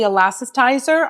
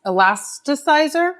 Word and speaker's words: Elasticizer: Philip Kingsley, this is the elastitizer. I always say it wrong, the elast elasticizer.